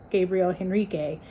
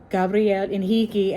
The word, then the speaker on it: Gabriel Henrique: Henrique written like that, so I thought his name was Gabriel Henrique. It's Gabriel Henrique, and I've been saying his name wrong this entire time.